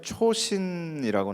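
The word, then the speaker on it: Chosin: 헷갈렸다라고 얘기를 하는 게 미국 자료에는 초신이라고 나옵니다. 이 초신이라는 게 장진호의 일본어 발음입니다. 초신이라는 게.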